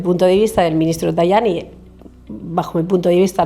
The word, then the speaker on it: Tajani: ¿Cómo se dice en Tajani? Tayani en italiano o Tajani, ¿alguien prefiere decirlo Tajani? ¿Quién lo dice Tayani? Vamos a decirle Tayani.